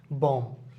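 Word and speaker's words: bomb: যেমন আমি যদি উচ্চারণ করি ক্লাইম এখানে আমরা ক্লাইম গাছে উঠকে আমরা ক্লাইম্ব বলি এখানে বিটা উচ্চারণ হবে না এটা হচ্ছে ক্লাইম বম বম হবে না এটা বোমার কথা বলা হইছে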